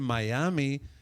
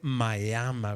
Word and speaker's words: Miami: no me educaron que no se dice en miami aunque así se escribe se dice maya con orgullo vamos a